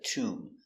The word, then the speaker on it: tomb: T oo too m tomb Tomb has a long oo. So, we make the sound tomb. Remember, the position is low. oo oo tomb, not too.